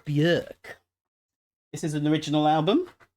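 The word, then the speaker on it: Björk: Bjork a little bit York sorry saying her name wrong bjerk this is an original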